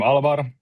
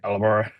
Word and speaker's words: Alvar: I'm Alvar. It's actually pronounced more like Oliver, not like Alvar.